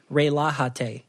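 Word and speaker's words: relájate: real a hottie and the J is pronounced as an H yeah I know that so it the way you would say probably is rael AHA - AHA - yeah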